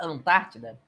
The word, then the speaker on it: Antártida: a separação ctica pessoal a palavra Antártida é uma palavra proparoxítona que que é uma palavra proparoxítona é quando a sílaba tônica é antepenúltima certo então é uma